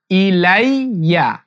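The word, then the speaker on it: إِلَيَّ: মিন খাইরিং ইলাইয়া ইলাইয়া এই উচ্চারণ অনেকেরই হয় না ইলাইয়া ইলাইয়া ইলাইয়ামিন খাইরিং ইলাইয়া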